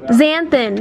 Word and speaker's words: xanthan: X-stan gum? I have no idea. Oh, I don't know how. Xanthan. Yeah, I think you're right.